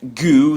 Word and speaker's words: GU: Uh, really particularly review this product that I use today called Goo. That's spelled Gu.